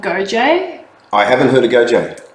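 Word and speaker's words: Goje: G-O-J-E. G-O-J-E. Okay, GoJ, yeah. I would have looked at the word and pronounced it Godge.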